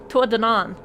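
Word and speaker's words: Tuatha Dé Danann: Tua donan is how you pronounce it. He's the only one I haven't talked to about it. What do you know of the tuanon?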